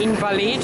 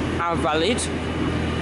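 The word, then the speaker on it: Invalides: Here we are at Invalid, or actually pronounced Invalid.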